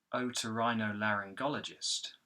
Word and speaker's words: otorhinolaryngologist: So you've got Otorhinolaryngologist.